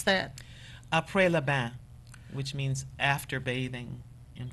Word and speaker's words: Après le bain: Would you pronounce that? Après le bain, which means after bathing in French.